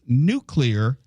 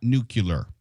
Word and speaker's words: nuclear: And it's pronounced nuclear, not nuclear.